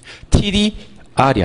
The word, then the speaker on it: TDR: 유의하실 점은 TDR이라고 읽어야 됩니다. TDR이에요. TDR이 아니에요. TDR이에요. 뭐를?